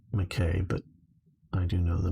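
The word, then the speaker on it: Mackay: noise i grew up in the mckay or makai also rockhampton is one word and i do i've not oh serial lurker makai as in this the scottish way of pronouncing it yes rockhampton here you're saying here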